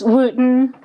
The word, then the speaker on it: Wootton: By the way, how do I pronounce your last name? It's Wootton.